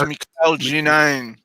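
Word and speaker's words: Mikel Janín: One of us knows how to pronounce it, but I don't. Mikel Janin. I know how to do it. It's Mikel Janin.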